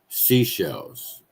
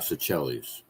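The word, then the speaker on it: Seychelles: Uh, I couldn't locate Sichellis, but I do know you pronounce it like seashells. Sashells. Seashells, not Sichellis.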